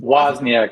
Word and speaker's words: Wozniak: your last name properly is it Wozniak like like Steve Wozniak like yeah like the computer guy right yeah but we're